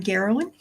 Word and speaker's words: Geralin: Anyway, so for those that don't know, I'm Geralin. That rhymes with heroin.